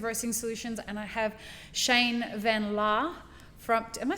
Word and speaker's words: Shane van Laar: He's the owner of Collective Roasting Solutions, and I have Shane van Laar from, am I saying that right?